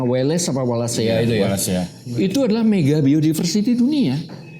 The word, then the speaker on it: Wallacea: Indonesia memang terutama di garis apa ya bacanya Wales apa Wallacea itu ya. Wallacea.